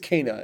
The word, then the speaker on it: Kena: Apparently it's pronounced Kena, and guess how I'm never going to pronounce it?